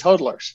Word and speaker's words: hodler: know and so so you're pronouncing it so you guys are all pronouncing it wrong it's huddlers yeah it was a spelling